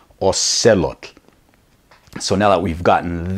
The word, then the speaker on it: axolotl: but not really but all said look they pronounced Alcala tell and it actually took me a minute of